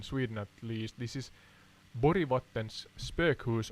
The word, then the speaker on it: Borgvattnet: This is Borgvattnets spökhus or Borgvattnet. Borgvattnet. Yeah, I'm trying to pronounce it in the English tongue.